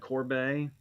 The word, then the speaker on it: Corbet: announcement for these and they said Corbet I I'm I might try to get used to saying that it's going to be really hard I hate mispronouncing names but I've said Corbett since funny game games came out that's